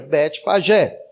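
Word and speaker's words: Betfagé: essa Aldeia chamado betfagel nome estranho mas é isso mesmo botei várias versões de áudio e é exatamente essa pronúncia da Aldeia Bete Pajé mas interessante é que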